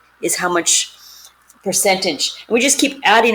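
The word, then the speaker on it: μ: this is the way we say this is mu mu is how it's pronounced a greek letter gives us the standard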